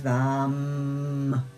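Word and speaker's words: वं: And the one syllable Sanskrit mantra is vam with a V.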